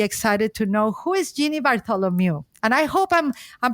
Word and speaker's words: Jeannie Bartholomew: going to be excited to know who is Genie Bartholomew and I hope I'm I'm pronouncing well your last name and your your